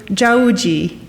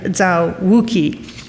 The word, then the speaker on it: Zao Wou-Ki: In Mandarin, Zao's family name is pronounced Zhao, and his given name, Wu-Ji. This is why you may hear him referred to as both Zhao Wu-Ji and Zao Wou-Ki.